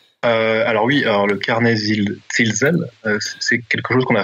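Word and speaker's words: Zilsel: Je prononce bien à l'allemande, puisque Silsel, c'était un historien et philosophe des sciences autrichien. Enfin, je ne sais pas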